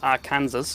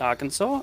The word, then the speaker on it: Arkansas: same they pronounce it arkansas i think it's got something to do with the french i don't know uh